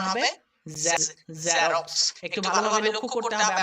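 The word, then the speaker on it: Xerox: যেমন আমরা অনেকে বলি জেরক্স, কিন্তু এটা জেরক্স না, এটা উচ্চারণ হবে জেরক্স। একটু ভালোভাবে লক্ষ্য করতে হবে, আমরা জেরক্স বলি, বর্গীয় জয়ের উচ্চারণ কিন্তু এক্স দিয়ে উৎপন্ন হয় না, যেটা জেড এর সাউন্ড সেই সাউন্ডটা কিন্তু এখানে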